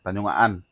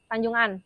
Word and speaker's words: Tanjung Aan: Tanjung Aan. Tanjung An. Heeh. Tanjung An bacanya. Oh, Tanjung An bukan Aan.